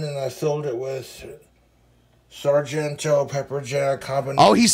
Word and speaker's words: Sargento: Then I took this hot dog bun and I filled it with Sargento pepper jack habanero. Oh, he's saying it correctly now. He used to call Sargento cheese Serengeto cheese.